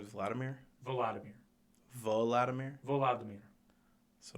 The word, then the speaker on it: Volodymyr: Volodymyr?